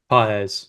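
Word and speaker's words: Pagés: Andy paa is that how you say it pz pz yeah like he's he's been okay um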